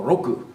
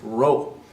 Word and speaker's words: roku: people get in trouble six is rook rook or Roku right there's a K there and a lot of times our students when they hear the comp going fast they think it's rope and I got to